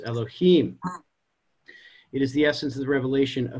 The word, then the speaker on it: Elohim: Know that the sphere of Bina is written Yud Hey Vav Hey and is pronounced Elohim.